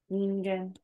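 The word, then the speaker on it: 人間: So the Hito kanji is pronounced as Nin. Ningen.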